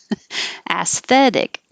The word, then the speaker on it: aesthetic: live without okay words aesthetic begins with ass aesthetic beautiful aesthetic differentiate is